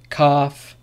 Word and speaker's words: calf: For example, for the rule is that L is not pronounced after the vowels A, O, and U. A, O, and U. There is no L sound after these vowels.